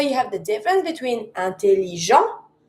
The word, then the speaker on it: intelligent: Intelligent, finishing with the t, it's a mute consonant, I never pronounce.